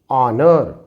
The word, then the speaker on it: honor: को यदि हम साइलेंट बनाते हैं तो its pronunciation will be R, R. Here it will be honor, honor.